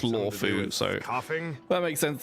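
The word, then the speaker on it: Luofu: It's written Luo Fu and pronounced Law Fu, so coughing.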